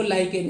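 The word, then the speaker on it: lichen: तो बोला कि लीचन नहीं होता है, इसको लाइकन ही पढ़ते हैं।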